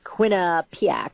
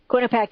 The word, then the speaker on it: Quinnipiac: And this is, again, coming from the Quinnipiac University National Poll, and yes, nobody can pronounce it. It's Quinnipiac, I guess.